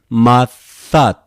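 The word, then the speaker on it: Ματθάτ: Mathat. There's two consonants here. We simply pronounce just one is enough.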